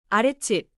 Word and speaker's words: 아랫집: 아랫집 완벽해요.